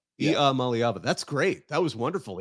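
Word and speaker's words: Iamaleava: name right one day if you say like e like EA Mal like the mly and then Ava is it's how he pronounces it that's how e malava e malava that's great that was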